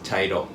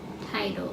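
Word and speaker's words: 茶色: Brown is chairo. Tairo. Chairo. Mhm.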